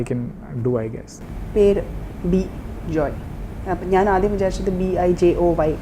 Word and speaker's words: Bejoy: പേര് Bejoy. അപ്പം ഞാൻ ആദ്യം വിചാരിച്ചത് BIJOY എന്നായിരുന്നു. This is BEJOY. I don't understand that. Bejoy? No, BIJO is by joy.